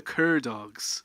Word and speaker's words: Cur Dogs: gentlemen we have in front of me the Cur dogs is that am I pronouncing that right yeah CCC um so why